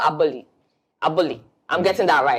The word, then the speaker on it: Aboli: Because I was saying Aboli, like just the typical Ghanaian way, but he has his way of pronouncing it, and that is Aboli.